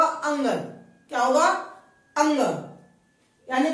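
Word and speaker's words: ङ: अब कई जगह इसे बोलते हैं अनाखाली या चूले मियां, तरह तरह के नाम बोलते हैं। इसको हमें कई नाम नहीं बोलना, इसका उच्चारण होगा अंगन।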